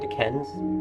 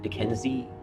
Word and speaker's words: Duquesne: When George Washington, a major at that time, left from, or just near Fort Duquesne, or Duquesne, depending on how you want to pronounce it, in Pennsylvania, what is now Pennsylvania, basically the city of Pittsburgh.